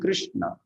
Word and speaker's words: Krishna: So that's why you get Krishna. You see, when you say Krishna, we put a dot below R, isn't it? And we say Kri, isn't it? Krishna. So it's Ri, Krishna.